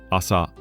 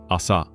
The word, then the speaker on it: あさ: Asa. Now you say it. Asa. And again. Asa.